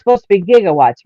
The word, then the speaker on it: gigawatts: one um doc doc says 1.21 gigawatts he mispronounced gigawatts I was gonna say it's supposed to be gigawatts right yeah right yeah but but they they